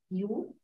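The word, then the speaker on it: 六: So six, Susan, can you try to pronounce it? Liu.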